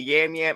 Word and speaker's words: Yam: I know they say Jam. Yeah, where did Jam come from? But he said Yam out of his mouth in the tape. So I don't know how they got Jam.